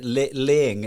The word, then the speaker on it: Lang: So funny because it's laying Laying. is how she pronounces it, right?